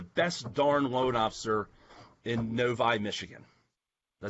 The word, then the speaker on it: Novi: I'm looking for the best darn loan officer in Novi, Michigan.